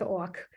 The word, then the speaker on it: Ok: walk and so here you can see orc on the map it's spelled okay like the English word to me that everything's